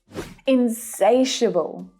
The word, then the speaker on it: insatiable: Insatiable. Insatiable. Say it with me. Insatiable. I love this adjective. The second syllable is the stressed one. Insatiable. Hear how low in pitch those last two syllables are?